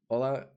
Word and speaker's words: hola: only know english hola hola rhymes with cola as long as you